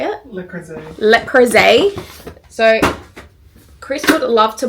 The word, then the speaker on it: Le Creuset: So first up, we walked into I don't know how to pronounce this. How do you say it? Le Creuset. Le Creuset.